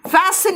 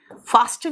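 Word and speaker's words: fasten: फैसन your seat belt. फास्टन नहीं बोलना, इट्स फैसन, है ना। फास्टन, टी का प्रोनाउंसिएशन नहीं होता यहाँ पे, ठीक है।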